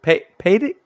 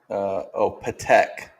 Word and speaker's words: Patek: Paddock? How you say it? Fred. Patek.